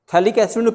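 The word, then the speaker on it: phthalic: बाय डी कार्बोसिंथ acid थैलिक्स P silent रहता है ना स्पेलिंग देखिए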